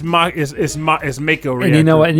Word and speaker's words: Mako: I called it Mieko every time. It was M-Ako. M-Ako? So Mako. No, to Mako. No, it's an acronym. Nope. Until I play remake, to me, it's Mako.